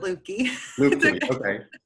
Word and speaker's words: Luebke: much for joining me I'm talking with Kelly Lucca I pronounced it right that's actually the correct pronunciation yeah I pronounced it looky who's Business Development Manager and meeting play and